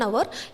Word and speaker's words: hour: there is only 1 hour we either say 1 hour or an hour because the h H in that word is silent so if the first